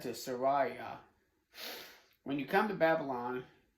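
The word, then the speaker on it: Seraiah: I've mispronounced it a couple of times. Sariah, just like Jeremiah on Sariah.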